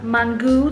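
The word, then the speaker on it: mangú: can't and we ordered breakfast so we got mangu that's how you say it we got mangu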